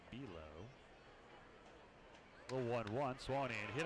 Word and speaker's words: Below: Bilo spells his name like below. B-E-L-O-W. It is pronounced Bilo.